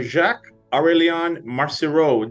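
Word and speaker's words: Jacques-Aurélien Marcireau: series I'm happy to be joined today by Jacques aurelian Marcy Road did I pronounce that correctly Jacques it was perfect was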